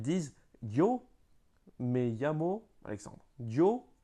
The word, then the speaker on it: yo: Yo, donc ils prononcent avec yo. Mais c'est pas un je, c'est un yo.